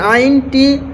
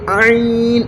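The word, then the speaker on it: ع: আইন আইন আইন এই আইনটি আমাদের অনেকেরই আইন উচ্চারণটি হয় না তো এ আইন উচ্চারণটি মুখের সে অংশ থেকে বের করতে হবে যে মুখের গলার ভিতর থেকে আইন গলাটা একটু চাপ দিয়ে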